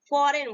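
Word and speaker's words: foreign: हैं ये मुख होता है हम कैसे बोलेंगे फॉरेन बोलेंगे नेक्स्ट एग्जाम नेक्स्ट देखते हैं वो हमारा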